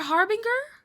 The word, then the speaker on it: harbinger: I don't buy into this Is it Harbinger? Harbinger? Yes? Harbinger of Doom? Yeah, Harbinger. There's no fucking way that this word would be Harbinger, because that's not scary. A soft G is more moody.